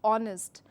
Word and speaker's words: honest: word honest, which is honest. So to keep in mind, the word doesn't take the consonant sound, that is her, completely into its the word pronunciation, but it takes the o sound to it.